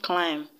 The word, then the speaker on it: climb: equation in option a we have climb and as you already know the b is silent hence is not the